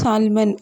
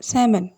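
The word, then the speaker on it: salmon: இங்கே வந்து சால்மன் அப்படின்னு நம்ம சொல்லக்கூடாது, சேமன்.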